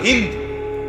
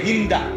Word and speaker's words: হিন্দ: যে নারীর নাম হল হিন্দ আমাদের দেশের উচ্চারণে বলে হিন্দা যাই হোক মূলত হল হিন্দ আকারটা নাই আর কি কিন্তু এটা উচ্চারণের একটা ভুল হিন্দা বলে ফেলে তো এই হিন্দ বিনতে